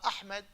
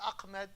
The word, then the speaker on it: Ahmed: at westerners for example because Americans we don't have we don't have hat in English so they struggle they don't know how to pronounce uh Ahmed they say Ahmed a lot of Americans